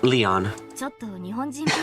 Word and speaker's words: Leon: It's written as Lion, but pronounced Leon.